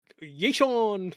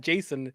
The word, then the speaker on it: Jason: Yason. His name is Yason. It's not Jason. It's Yason.